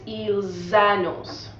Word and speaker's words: annoncent: So it's ils annoncent, like s'annonce.